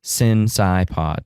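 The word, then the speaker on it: Cinecypod: both Facebook and Twitter since iPod sin obviously not s-i-n but c-i-n the first syllable of Cinema of course since iPod so the first syllables of each of the title for each of the words of our title Cinema psych pod cast since iPod on both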